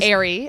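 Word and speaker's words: Aire: son's name go Airy it's actually Airy it's spelled Airy like the bras that's what I heard like the the priced bra line Airy is it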